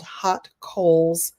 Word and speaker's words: Haute Coles: I have my own publishing imprint called Hot Coals Publishing. Hot Coals Publishing. Get it? But it's really cool because it's spelled real different.